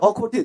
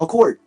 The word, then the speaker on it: accord: 그래서 accord, 디귿 사운드가 뒤로 빠지는 건 한국식 발음이고요. 그걸 받침으로 넣습니다. 그래서 발음을 accord, 숨을 참으세요. accord, 다 함께요.